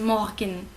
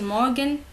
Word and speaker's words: Morgen: Ici, c'est pas R de français. Guten Morgen. C'est Guten Morgen, ok?